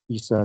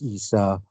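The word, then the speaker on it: عيسى: Isa remains Isa, and notice this is an alif here, right? With the ya without dots, so it's pronounced like this alif as well.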